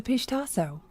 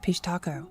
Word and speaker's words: Pishtaco: The pistaso or as some pronounce it pistaco is one of the most enduring and terrifying figures in Indian folklore.